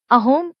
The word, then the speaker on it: असम: अपने प्रदेश को असम नहीं अहोम कहते हैं और च को स बोलते हैं।